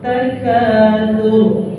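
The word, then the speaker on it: التكاثر: Alhaakumut takatsur. Tur tafkhim, tur jangan sur. Alhaakumut takatsur, jangan salah begitu.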